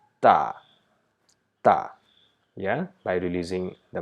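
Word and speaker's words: تاء: of ER or a so we don't say we say ta Okay so this sound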